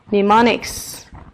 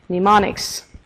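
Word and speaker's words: mnemonics: the word pneumonics pneumonics pneumonics yeah have you noticed something strange the first letter which is M of course is a silent letter you don't say it you don't pronounce it pneumonics pneumonics so it's something that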